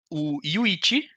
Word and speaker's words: Yuichi: E daí ele volta a pergunta falando o Yuichi. Porque eu da vida inteira eu pronunciava Yuchi, né? Mas o uhum. William falou o Yuichi, ele faz Nossa, parte do ok.